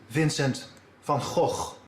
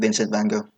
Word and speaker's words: Vincent van Gogh: The correct Dutch pronunciation is Vincent van Gogh. Forget that. I'm sticking with Vincent van Gogh.